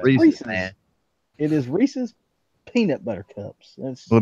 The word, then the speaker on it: Reese's: That's Well, the reason I say Reese's is there's a town not far from me that's named Reese, and it's spelled exactly the same way with no S. So That's right. it's Reese's. yeah.